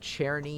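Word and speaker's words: Czerny: keys things like that Cherney CZ r n y people do pronounce this one differently and uh he has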